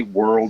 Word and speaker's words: Whirl: can say world or whirl or whatever. They know what you're talking about, and so it's widely accepted. I actually researched that, and it originally was Whirl, WHIRL, but some people call it World.